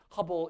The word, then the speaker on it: Hubble: It rhymes with rubble. I heard someone say it. It's the Hubble Space Telescope.